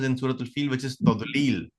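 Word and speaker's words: تضليل: You can say tazlil or tadlil, right? But you're pronouncing it as tazlil because instead of saying duad, you're saying zuad.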